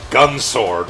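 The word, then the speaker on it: Gun X Sword: Unlike Gun Sword, which is the X is not pronounced.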